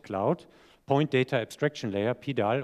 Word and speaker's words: PDAL: Ein Pendant dazu für Punktwolken, Point Cloud, Point Data Abstraction Layer, PDAL oder auch PUDL in US-Englisch ausgesprochen, ist eine Software, die wirklich hochinteressant ist, um sogenannte Pipelines aufzusetzen.